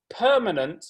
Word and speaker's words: permanent: the student was having problems with word stress so in the chat box i could write permanent and i wrote per in block capitals so they could see that was the stressed syllable another student had a